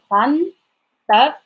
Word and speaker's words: غنطرطق: normally using, and is غنطرطق. Again, the meaning is like I'm going to explode, like literally. غنطرطق. So that ta sound is not the t sound.